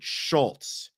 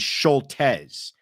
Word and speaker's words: Scholtes: And the Christopher, I pronounce it Schultes. I'm now being told that it is Scholtes. And I have bones to pick with people who are saying Scholtes, but I'm being told I'm wrong.